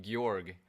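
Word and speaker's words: Gyorg: it's not that bad guy org some people pronounce it gorg the third boss of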